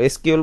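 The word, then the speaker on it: SQL: আমরা দেখব নেক্সট ক্লাসে উচ্চারণের সুবিধার জন্য এসqউএল শব্দটি অনেক সময় সিকিউএল অনেকে কি সিকুয়েল উচ্চারণ করে তুমিও চাইলেও করতে পারো এসqউএল বলতে পারো বা সিকিউএল বলতে পারো দুটোই সঠিক এসqউএল শব্দটির পূর্ণরূপ হচ্ছে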